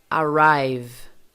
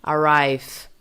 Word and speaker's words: arrive: Se o seu V não estiver vibrando, então provavelmente você está pronunciando o seu V como som de F. Arrive. Não é assim, tá? O V tem que vibrar.